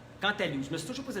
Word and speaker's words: cantaloupe: fesses rondes comme des cantaloupes. Cantaloupe, je me suis toujours posé la question, est-ce qu'on dit cantalou ou cantaloupe? Je pense qu'on dit cantalou, on ne prononce pas le P.